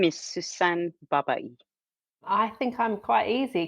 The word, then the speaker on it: Sussan Babaie: Could you each please pronounce your names correctly for me? My name is Niamh Coghlan. My name is Sussan Babaie.